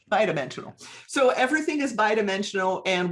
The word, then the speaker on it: bi-dimensional: i didn't learn it is it b dimensional or bi-dimensional somebody i've always heard it bi-dimensional thank you bye dimensional so everything is bi-dimensional